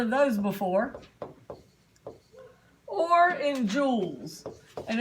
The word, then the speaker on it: joules: Or in joules. And it sounds like diamonds and rubies, but it's spelled different.